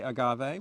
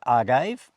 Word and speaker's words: agave: is it you know the E possibly should be pronounced uh Spanish you would say Agave wouldn't you yeah yes you probably would so let us assume it's agave and during this whole uh